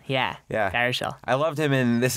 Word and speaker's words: Baruchel: Baruchel. Yeah. Baruchel.